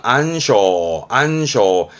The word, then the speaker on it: 暗礁: 왜냐하면은 물속에 숨어 있어서 보이질 않는 그래서 배의 그 항해에 방해가 되어지는 바위를 말하는 부분이기 때문에 어두울 암자 써서 발음 또한 안쇼.